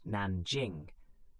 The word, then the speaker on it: Nanjing: Most notoriously, the massacre at Nanjing, pronounced Nanjing, killed hundreds of thousands of Chinese civilians and prisoners of war.